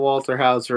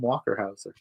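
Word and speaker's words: Walter Hauser: We do love some Paul Walterhouser as well. We love Progress. I said it right this time. You did. I didn't call him Walkerhouser.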